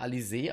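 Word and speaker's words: Alisaie: mal alfin sprechen okay Alise Alise sal wird Alise ausgesprochen okay gut wenn es so ist aber dann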